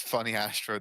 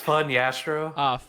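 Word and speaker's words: Funnyastro: If Lastro is Hastro's brother, is Funny Astro their cousin? It's actually pronounced fun, Yastro. Fun Astro.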